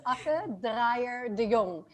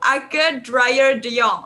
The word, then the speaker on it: Akke Draaier de Jong: My full name is Akke Draaier de Jong. Oh, Ake Draaier de Jong. Oh, that is the correct pronunciation, guys.